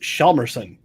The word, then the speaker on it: Hjalmarsson: All right, I give half credit to the both of them, but the last name is actually pronounced Hjalmarsson.